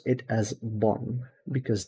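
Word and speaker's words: บอล: you pronounce it as Bon because the L at the end of a word in Thai is usually pronounced with an n so that this I'm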